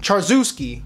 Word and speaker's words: Charzewski: next question from charizawiski i think i said that right charzewski charzewski that's the right way to say your last name bro what's the best